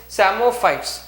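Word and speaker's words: psammophytes: Then third one is samophytes. Here P is silent.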